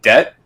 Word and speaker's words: debt: I mean, even other crazy words like debt. Like, oh man, I'm in so much debt right now from like money, financial wise. Who thought this was okay? Why is this silent B a thing?